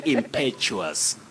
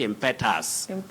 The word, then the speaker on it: impetuous: Nancy Ouma, say impetuous, impetuous, not impetus.